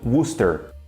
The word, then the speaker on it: Worcester: no Brasil só que o jeito certo mesmo de pronunciar isso aí é eu vou repetir Buster faz algum sentido nenhum porque isso daqui é pronunciado como Booster eu não sei porque